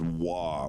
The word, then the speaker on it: は: So this little guy, this is a ha, but it's pronounced wa when it's a particle.